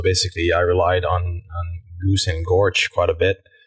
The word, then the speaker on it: GOOS: they were typing go oh go actually it's pronounced Goose um and windows and go build and like